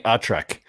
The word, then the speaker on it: ATRAC: I don't know if ATRAC is the right pronunciation. ATRAC. Oh, absolutely. I'm an expert. It's definitely ATRAC.